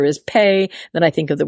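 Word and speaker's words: פ: alphabet the letter is pay it also can be pronounced F depending on the little dots it's given has a dot inside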